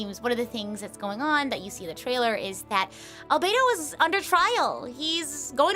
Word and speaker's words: Albedo: This is specifically, I'm assuming beta, oh not beta, albedo. Forgot a little syllable there.